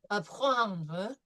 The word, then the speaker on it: apprendre: Apprendre. Apprendre. Apprendre. See, we have right here, we have the French R, so it's going to be apprendre, followed by a nasal combination.